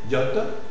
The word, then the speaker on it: yacht: La lettre A, dans un mot spécial d'origine anglaise, yacht. Hein? La palabra yate, yacht. Alors, on prononce aussi un O, même si la lettre c'est A.